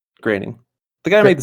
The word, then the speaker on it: Groening: Is it John Groening? Groening.